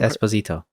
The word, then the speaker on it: Esposito: How do you pronounce that, Mario? Giancarlo. What's his last name? Really? It's Giancarlo. Esposito.